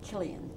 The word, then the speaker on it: Cillian: yeah I like it do you pronounce it Cillian Killian Killian yeah Killian Killian I should know that